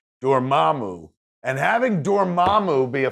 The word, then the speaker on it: Dormammu: Hearing Dormammu pronounced, I'd always said Dormammu. Hearing it pronounced officially, that comes from the Marvel powers that be, Dormammu.